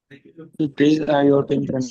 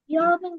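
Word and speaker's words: European: इट इज यूरोपियन country. यूरोपियन country.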